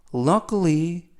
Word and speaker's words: luckily: Luckily, 자 이때 발음에 유의하실 것은 K 발음이 크 발음이 아니라 끄 연음에 의해서 그리고 K 뒤에 있는 알파벳 I는 묵음이라서 발음이 되지 않습니다. 그래서 luckily가 아니라 luckily 라고 발음하셔야 되고요.